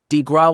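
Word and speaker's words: de grâce: The Killing below the coup de grace pronounced DeGraw was delivered upon the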